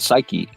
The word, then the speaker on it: psyche: because Aristotle's idea of the soul or the suk as they would call it we we pronounce it psyche um is he says that the